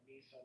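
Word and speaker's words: Mhysa: That's what they would call her, Misa. It's spelled differently. It's like Mysa, but that was their name for her.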